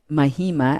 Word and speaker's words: Mahima: for you at the mahima and i'll spell that m-i-h-i i always say it's mama with a hi in it yeah so the mahima